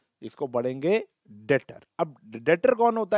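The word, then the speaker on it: debtor: कौन बन गया कौन बन गया डेट 20 साइलेंट होता है इसको बढ़ेंगे डाटर कौन होता है दातार वो परसों होता है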